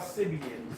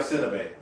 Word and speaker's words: Sidibe: And you still said her name wrong. Sibian, At least give her the credit. Said you talking about cities. S-I-D-I-B. It's Gabrielle Sidibe.